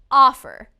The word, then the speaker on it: offer: about the verb offer offer again the first syllable is stressed offer when the first